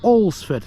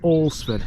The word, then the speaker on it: Alresford: Cheratin, two miles that way along with Olsford. That's how you pronounce that. Olsford, four and three/4er miles.